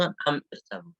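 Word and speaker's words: أَمِ ارْتَابُوا: Nah, di sini maka dibaca tebal karena kasrohnya tidak asli.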